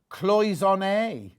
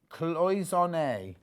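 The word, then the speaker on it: cloisonné: Oh, it's pronounced cloisonne, apparently. Cloisonne.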